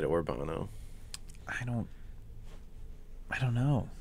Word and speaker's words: Urbano: good job yeah yeah did i mispronounce no he nailed it i think you did a good job i think i said orbano i don't i don't